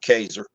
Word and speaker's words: Casar: The town closest to me, it's called Kaiser. That's spelled Casar.